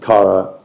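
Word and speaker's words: CARA: You first go on Kara's website, Yeah.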